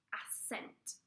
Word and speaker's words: ascent: So it's going to have SC written in it, but it's going to be pronounced S.